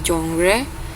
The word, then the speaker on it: genre: katanya dari bahasa Prancis kalau dalam bahasa Inggris bacanya jre jre walaupun tulisannya g e n r e Tapi bacanya jongre karena asal katanya dari bahasa Perancis bahasa Perancis dia lebih aneh lagi cara pengucapannya zong zongre zongre seperti itu oke eh secara singkat